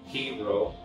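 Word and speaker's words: Chi Rho: Ava got a little creative, and she went and did the chi ro, is how it's spelled. Chi ro is how it's pronounced.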